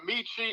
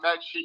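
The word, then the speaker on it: Metchie: Now, some people call him Michi. I call him Mechie. He prefers both, kind of a quiet, laid-back guy. But Mechie's an interesting story.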